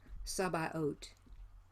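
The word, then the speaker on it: Sabaoth: Ot is like the H is not spoken, so it's Sabaot. And we pronounce that T.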